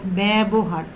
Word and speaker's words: ব্যবহার: অর্থাৎ ব্যঞ্জন ধ্বনি আছে, উচ্চারণটা হয়েছে বর জফলা ব্যবহার, ব্যবহার অর্থাৎ উচ্চারণটা যদি খেয়াল করো এর মতো উচ্চারণ হয়েছে, ন্যাস্ত, ব্যথা, ঠিক আছে।